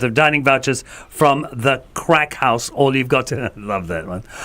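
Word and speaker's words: craic: So, crack is actually an Irish word. It's spelled as C R A I C. And it's an Irish word that means good times and good fun.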